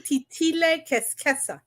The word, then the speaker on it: Titilé: are you so am I it's Queen titilla you know yeah okay here's one thing uh